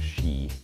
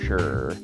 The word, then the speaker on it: Shi: By far, our favorite restaurant in Beijing was this place, Mr. Shi, or as I think the locals would pronounce it, Mr. Shur.